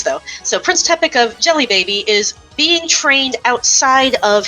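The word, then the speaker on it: Djelibeybi: with Prince tepic uh of uh remind me Jelly Baby Jelly Baby thank you uh I'll put it I'll put how that's spelled on screen and post but yes it's pronounced jelly baby because I remember like um in a different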